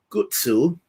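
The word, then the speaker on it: ガッツ: The main power of Guts, who is the main character, or in Japanese you pronounce it Gutsu, his main power is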